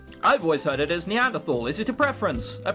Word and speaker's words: Neanderthal: I've always heard it as Neanderthal. Is it a preference? A preference. But there's no H sound when it's pronounced in French and German.